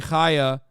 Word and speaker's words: Chaya: In Judeo-Arabic, like it is in Arabic, by the way, that's the letter Chaya Raichik's name starts with, so it's actually Chaya, not Tachaya.